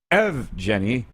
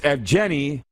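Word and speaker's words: Evgeni: paul evgeny malkin scored its efjenny not ev jenny or evgeny it's evgeny malkin scored 357 into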